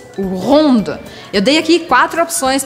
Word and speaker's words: rond: Se você for mais redondinho ou redondinha, je suis rond. Je suis ronde, sem pronunciar o D no masculino.